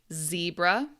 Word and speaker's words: zebra: Pedestrian, barcode, tax, railroad, zebra. Now, zebra is the American pronunciation. Uh, British, Australian, other other English dialects will say zebra. But in America, we say zebra.